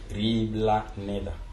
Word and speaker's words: Riblaneda: Riblaneda signifie, d'abord la prononciation réelle de Riblaneda, c'est Riblaneda.